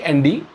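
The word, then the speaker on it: end: एंड तो ध्यान दीजिए इन दोनों को सेम प्रोन मत करिएगा यह अंड है और यह एंड है इसके अलावा एक चीज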